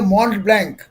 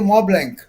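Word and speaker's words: Montblanc: पेन है, उसको लोग, उसकी स्पेलिंग है मॉन्ट ब्लैंक, प्रोनाउंस करते मॉ ब्लैंक जी।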